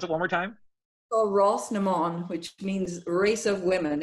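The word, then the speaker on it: Rás na mBan: you won four times running olivia boston okay pronounce it one more time oh ross nemond which means race of women in in irish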